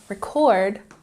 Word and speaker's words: record: And remember, record, emphasis on the second syllable, this is a verb.